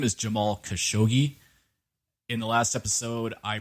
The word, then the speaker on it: Khashoggi: His name is Jamal Khashoggi. In the last episode, I pronounced it as Khashoggi. I apologize for pronouncing it wrong. The correct pronunciation is Khashoggi.